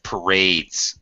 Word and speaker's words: parade: There are lots of parades. That's when people march down the street. Okay. Okay. Parades. I don't know parades. Parades. Second syllable stress. Parade.